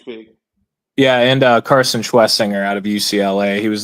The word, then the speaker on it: Schwesinger: Uh Carson Schwesinger. Schwezinger. Okay. I keep calling him Schwarzinger.